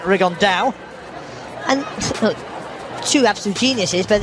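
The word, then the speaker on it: Rigondeaux: talked about fighting riondo as he's correctly pronounced with the Spanish accent rigon da and two absolute Geniuses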